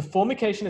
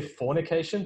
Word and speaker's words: formication: what that is so formication is the sensation of having insects crawling up your hands um be slightly careful how you pronounce this word don't say fornication that means something completely different but formication is a